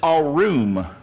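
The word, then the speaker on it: ערום: the point is here this Hebrew word translated subtle is a room that's how you pronounce it's a transliteration of the Hebrew and it means cunning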